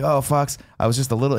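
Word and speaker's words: Fawkes: And then Fox comes back, and he's like, oh, Fox, I was just a little.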